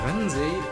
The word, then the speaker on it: Ransei: In Ransei wird eine Geschichte aus alten Zeiten von Generation zu Generation weitererzählt.